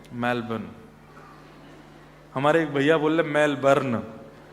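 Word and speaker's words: Melbourne: करेंगे कहां रहते हैं मेलबर्न हमारे एक भैया बोले मेलबर्न जो मैल को जला दे मेलबर्न मैंने कहा नहीं मेलबर्न र जो है वो साइलेंट बोलो तो लेकिन हुआ क्या यहां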